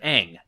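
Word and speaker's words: Aang: may have noticed that some of the names are pronounced differently in the movie sooka instead of Saka and Ang instead of Ang that's because Shyamalan wanted the Asian names to have the correct Asian pronunciation I would actually agree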